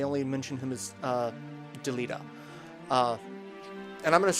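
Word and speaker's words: Delita: deleta and deleta because i always called him deleda uh but in this he's actually deleta like you actually hear the voice acting say his name so that that's a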